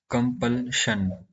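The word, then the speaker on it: compulsion: इसका जो प्रोनाउंसिएशन होता है कंपल्शन, कंपल्शन होता है।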